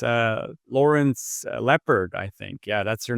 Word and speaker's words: Lepard: got a really cool guest it's uh Lawrence leopard I think yeah that's your name right that's how I pronounce it right yeah and you are from